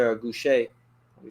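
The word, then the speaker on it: Gausha: How about Erickson Lubin versus Terrell Geisha or Goucher? Let me say his name. Terrell Goucher.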